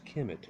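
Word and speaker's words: Kemet: refer to the homeland ischemic eventually pronounced Kim it according to dr.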